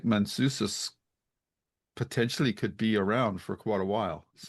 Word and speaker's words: Manousos: Manousos.